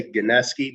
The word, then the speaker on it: Gnieski: pronounce the last name we say ganeski but like doesn't make sense phonetically so it's however you want to interpret it man hey you know